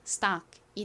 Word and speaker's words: stock: 연결하면 stock이 돼요. stock. 이렇게 t가 s의 바로 뒤에 올 때는 t 소리보다는 좀 더 세게 거의 쌍디귿에 가깝게 발음되는 경향이 있습니다. 그래서 stop보다는 st에 가깝게 발음됩니다.